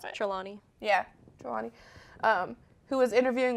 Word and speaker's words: Trelawney: Is that how you pronounce it? Trelawney.